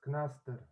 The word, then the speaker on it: Knaster: yes, it's Knaster.